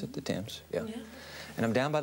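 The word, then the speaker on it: Thames: Waterfront the Tims river is that how you pronounce it the Tims yeah and I'm down by the London ey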